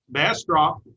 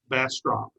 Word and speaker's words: Bastrop: That's called a bass drop. And if you can substitute a T for the D, you've got it. Bastrop, Bastrop.